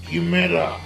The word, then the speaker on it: chimera: হ্যাঁ, কিমেরা। CHIMERA। MERA। ভদ্রলোক বানান করে বললেন।